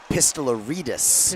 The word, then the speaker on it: Pistolaritus: I did get pronunciation on uh Anthony. It's Pistolaritus.